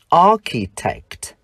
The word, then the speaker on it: architect: Danh từ kiến trúc sư, architect. Tuy nhiên, phụ âm CH trong danh từ đứa trẻ chúng ta lại phát âm là ch.